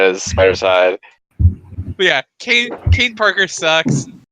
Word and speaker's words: Kaine: But yeah, Kane Parker sucks. His name's Kane, but it's spelled Kaine.